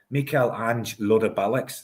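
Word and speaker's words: Michel-Ange Balikwisha: the same as you, but it's actually we're both wrong. We're both wrong. It's Mikael Ange Lodabalics. That's how you pronounce it.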